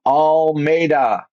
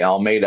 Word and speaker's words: Almeida: host today on the computer I have Joseph all Meda and I'm saying it right I hope Perfect all right Almeda I said you gave it to me phonetically